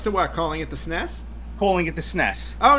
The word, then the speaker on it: NES: Japan the Nintendo and the NES actually is supposed to be pronounced Ness because we don't know why